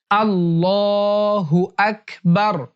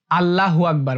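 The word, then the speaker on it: الله أكبر: অনেকেই আল্লাহু আকবার বলে। এটা ভুল উচ্চারণ।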